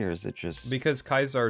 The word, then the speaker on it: Caesar: is it just because kaisar is the Latin pronunciation of the name oh okay I mean